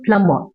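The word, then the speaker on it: plumber: அதுலயும் B pronounce பண்ண கூடாது பிளம்பர் அப்படின்னுதான் சொல்லணும்.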